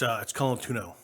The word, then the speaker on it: Colantuono: It's Colantuono. Say what? Colantuono. Colantuono? Yes. See, I pronounce everything like a Protestant, so that's probably my fault.